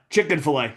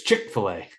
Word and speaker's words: Chick-fil-A: Chicken fillet. Chick-fil-A. Chicken fillet. Chick fillet. Not It's chicken chicken fillet. No, it's Chick-fil-A. Oh, it is Chick-fil-A.